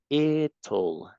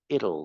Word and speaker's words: it'll: This is it'll, it'll. I it. Yes. It'll probably Ver- be. Ya, esta es una pronunciación difícil. Es como, imagínate que es así. It'll, it'll. It will. Okay.